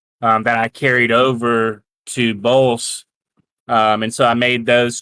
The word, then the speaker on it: Bolse: How do you pronounce it? Bolse, yeah, Bollse. And that was actually a level on Star Fox 64.